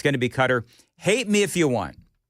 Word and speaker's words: Qatar: So that's the official pronunciation for me. It's going to be cutter.